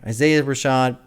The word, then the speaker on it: Isaiah Rashad: little birds love it love pretty little birds Isaiah Rashad so is that how you pronounces yes I said it right okay Isaiah Rashad Sylvia demo I want to do it that